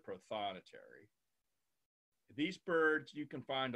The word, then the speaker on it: prothonotary: robes like this and they're called proto notaries so that's where they got the name they're there I guess their color is exactly the same as the accountants in the Vatican well we pronounce it prothonotary these birds you can